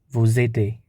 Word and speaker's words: vous aidez: And for the second person, we have vous, and the corresponding is ad, and this always pronounced as vous aidez.